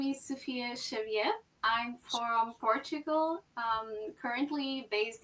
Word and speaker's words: Xavier: Here in America, we pronounce it Xavier, but you say Xavier. Xavier.